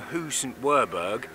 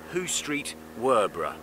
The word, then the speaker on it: Hoo St Werburgh: of thing um although it didn't actually become hussaint wurberg officially until 1968 but it has never been who street werbra as a friend of mine famously mispronounced it on the radio once anyway we're going along